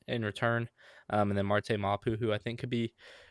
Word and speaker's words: Marte Mapu: Um that's the Well, we traded from uh I think it's Marte Mapu is the way you pronounce it, but we traded for him out of the Patriots.